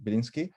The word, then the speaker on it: Biliński: And our guest is Biliński. The surname is pronounced correctly, Biliński.